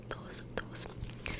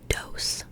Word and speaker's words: dos: However, if you're saying like Americans, you like to say like dose, like with that hard D sound.